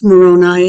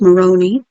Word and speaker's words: Moroni: here i looked up moroni yeah it's not pronounced moroni it's pronounced moroni according to the teaching of the church of